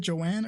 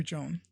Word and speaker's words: Joan: Is it Joanne or Joan? I say Joanne, but I'm pretty sure it's Joan.